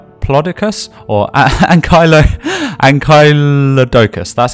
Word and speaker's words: Ankylodocus: actually not the third it's the first the Anglia Doukas hour or and kylo politicus or and kylo and Kaila doukas that's how you pronounce it and it's as you can see